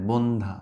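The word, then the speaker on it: বন্ধ্যা: জ ফলার উচ্চারণ নাই বন্ধা জফলার উচ্চারণ নাই বন্ধা মানে কি ব্যারেন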